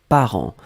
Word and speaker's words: parents: Donc le deuxième mot, c'était parent. Parent, on l'écrit au pluriel ici. P-A-R-E-N-T-S. D'accord? Parent, on ne prononce pas le T, on ne prononce pas le S, comme d'habitude.